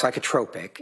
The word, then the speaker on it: psychotropic: It's pronounced psychotropic.